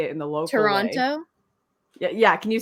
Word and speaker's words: Toronto: Yeah, so it's Toronto, Toronto. but locals say it Toronto. Yeah. They like take Toronto. out the second T.